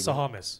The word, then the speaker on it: Sahamis: Sahamis. Sahamis. Yeah. With all the, I was going to say. It's not Sahamalopoulos. It's Sahamis. Yeah.